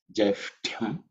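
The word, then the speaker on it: ज्यैष्ठ्यम्: ta, which is the second letter in the ta varga, so it's aspirated. Ta, okay? And then ya. So sh, ut, and ya. Shtya, okay? It has to be with a lot of emphasis pronounced.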